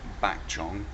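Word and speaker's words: ปากช่อง: track via train via Pak Chong which is pronounced back John but um you know obviously in your guidebook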